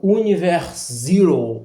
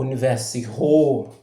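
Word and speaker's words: Univers Zero: fantástica, que é o Universe Zero ou Universe R, enfim, depende da pronúncia de quem fala, que é um grupo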